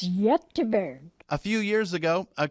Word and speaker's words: Göteborg: And the Gothenburg in Europe pronounces it differently than we do. The other Swedish name is Göteborg.